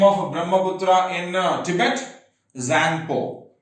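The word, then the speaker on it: Tsangpo: It originates in Tibet, and when it originates in Tibet, it's known as a Zangpo. What is the name of Brahmaputra in Tibet? Zangpo. T is silent. Okay, Zangpo.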